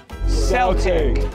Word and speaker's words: Celtic: that the two places the legacy of Celtic with a soft sea live on is with